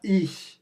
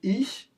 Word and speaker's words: ich: ICH, ich. Lembrando que não é ich, é ich.